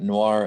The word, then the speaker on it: noir: them are pronounced oyer we've got noir and memoir where they're pronounced to mark their french origin and then we've got